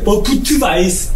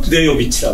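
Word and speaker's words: Budějovice: 그러니까 원래 이게 부트바이저, 그러니까 우리가 이제 필센도 마찬가지고 도시 이름이거든요. 필센이라는 도시 이름은 부트바이저라는 도시예요. 그러니까 독일 말로 발음할 때는 부트바이저고 체코 말로 발음하면 부데요비치라고 그래요.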